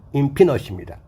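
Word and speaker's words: infinite: 발음이 소문자로 인피넛입니다.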